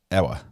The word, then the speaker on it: Ewa: You can say Eva. Are we going to okay, address Eva. Matter jurisdiction? The W is the W is a single V.